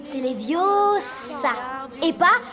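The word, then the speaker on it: Leviosa: Et puis d'ailleurs tu ne sais même pas le prononcer. C'est les viosas et pas les viosas.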